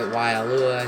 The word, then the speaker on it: Waialua: Waialua, I said right.